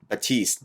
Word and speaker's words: Batiste: them and you know john batiste batista is how you say his name is picking up his